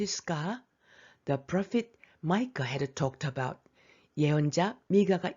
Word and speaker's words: Micah: 베들레헴 영어 발음이 Bethlehem. Micah lived 700 years before Jesus.